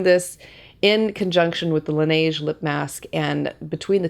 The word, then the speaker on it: Laneige: I've also been enjoying my Laneige.